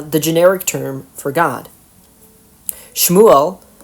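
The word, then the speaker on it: שמואל: Shmuel, which is how the name is pronounced in Hebrew, thus means something like, "His name is El."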